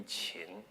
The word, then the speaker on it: Qin: would have pronounced it it should probably be chin because that he gets